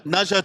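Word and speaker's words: Ne Zha: pronounced It's like Naja. Naja 2.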